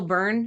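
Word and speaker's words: Byrne: Gabriel Burn, is that how you pronounce his name? Yeah. Burn.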